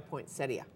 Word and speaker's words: poinsettia: you say poinsetta or poinsettia we say poinsetta I mean it's spelled that way it's spelled that way but a lot of people do not pronounce it that way and I bet you